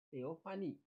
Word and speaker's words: teofani: Tulisnya PH ya. Bacanya, karena ini bahasa Yunani, walaupun diambil dari PL, teofani itu, teo itu Allah. PH itu kan bacanya F. teofani.